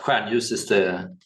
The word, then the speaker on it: Stjärnljus: Stjärnljus. Oh, that's not what I It's expected. no, it's very hard to pronounce. Hmm. So, but whatever is fine. But Stjärnljus Okay. is the Swedish pronunciation.